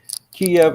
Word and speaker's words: Kiev: Again, Kiev is more like the Russian pronunciation of the capital.